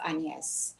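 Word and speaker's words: Agnès: i hate agnes i hate agnes i love anies so one day an american coach introduced me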